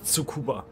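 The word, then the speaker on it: Tsukuba: mitam ja ja was wie spricht zu Kuba aus aber heißt zu Kuba Betonung auf die auf die erste Silbe nicht auf die letzte immer im japanischen ich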